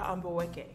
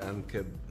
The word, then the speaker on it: Amboweke: Hi, I'm Amboweke. Nice to meet you, Ankeb. I mean, honestly, it's four syllables. Is it really that hard?